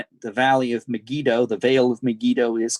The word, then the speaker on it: Megiddo: How do you spell that, Megiddo? Megiddo. It is Megiddo.